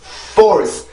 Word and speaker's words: force: 그래서 F 발음의 순수한 소리가 앞에 들어와 있어야 돼요.